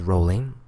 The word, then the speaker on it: Rowling: her last name because I kept going from rolling to Rowling and it is rolling I like her as